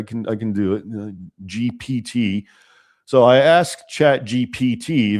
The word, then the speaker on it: GPT: I asked chat GBT. Yeah. Okay. GPT. I know I always say GBT. Okay. I It's a P, I guess. Yes, I can pronounce P BT. I can I can do it. GPT.